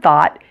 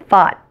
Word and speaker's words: thought: Another thing that you may be wondering about in the word thought is the final T. As with most T's at the end of words, the T is held.